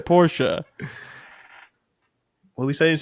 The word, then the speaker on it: Porsche: Porsche is pronounced Porsche. Well, at least I didn't say porch.